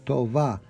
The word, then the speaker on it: Tova: Tova. Sounds more like a V than a B.